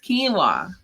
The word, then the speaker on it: quinoa: And I'm like, it's spelled like this. They're like, quinoa? I'm like, no, it's quinoa.